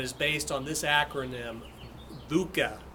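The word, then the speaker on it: VUCA: based on this acronym buca b-u-c-a and that stands for volatility uncertainty complexity and ambiguity again it's buca i think is how you pronounce it volatile volatility uncertainty complexity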